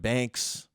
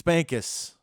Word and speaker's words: Bankas: Or I had Banana Kiss. I've had Banks, Bankas. It's Bankas.